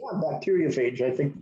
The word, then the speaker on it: bacteriophage: How do you pronounce this? Yeah, bacteriophage.